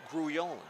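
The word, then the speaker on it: Grullón: Swinging a bouncer foul at the plate on the cut here by Grullon. 1 ball, 1 strike of the all-star catcher. Last name is spelled Grullon, pronounced Grullon. And now the 1-1 up and in.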